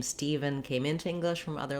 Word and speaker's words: Stephen: closely matches the pronunciation if you can pronounce even you can pronounce steven so the first syllable